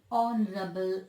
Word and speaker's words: honorable: Here, in honorable man, the consonant H becomes silent and it should be pronounced as honorable man.